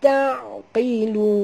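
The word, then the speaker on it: تعقلون: Afala taqilun. Afala la du harakat ta, ya, jangan tebal ta dan bunyikan ain yang mati dengan jelas. Ta, bukan ta, tapi taqilun. Huruf qaf baca tebal qi, bukan ki, ya.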